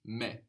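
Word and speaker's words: με: then very many good the word for me in Greek is the same as in English you just pronounce it more like how it's written me me me so that's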